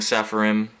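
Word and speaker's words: Seraphim: The song Sepharim or Saraphim, however you want to pronounce it. Here it is. I say saraphim.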